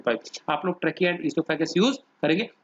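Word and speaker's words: oesophagus: आप लोग trachea and इसोफेगस यूज करेंगे, ओइसोफेगस नहीं बोलेंगे, इसोफेगस ओ साइलेंट है।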